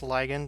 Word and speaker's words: ligand: what we call a ligand or sometimes you'll hear it pronounced ligand either way and the ligand